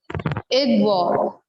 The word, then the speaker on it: étoile: Étoile. Étoile. T is pronounced as the.